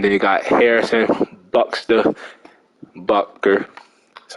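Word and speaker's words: Butker: honey badger and then you got harrison buckster bucker that's how you say it and then tommy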